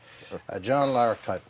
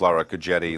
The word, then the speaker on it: Larroquette: mispronounce a lot of well the Q gives a problems it becomes Laura jetty Lara cutie LaRocca twitch I like